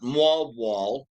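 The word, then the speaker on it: Moalboal: Uh went to uh Mu Wall this past week. Again, that's M O A L B O A L. They pronounce it mw wall.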